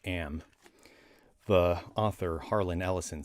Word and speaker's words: AM: m like like 10 o'clock am but it's pronounced am the author harlan ellison said so but uh